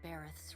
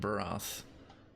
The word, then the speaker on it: Barth: before you stand in barth's realm oh it's Barth I've been pronouncing it barath Barth you are alone oh